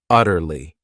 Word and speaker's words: utterly: another great adverb utterly this word has three syllables and the stress is on that first syllable utterly it means completely totally absolutely